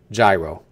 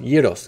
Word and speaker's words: gyros: are hardcore Americans you pronounce that as a gyro it's pronounced Yos give me a yo you can add the